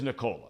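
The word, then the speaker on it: Nikola: on the hardwood now how do you pronounce this guy's first name Nicola it is Nicola yeah okay I mean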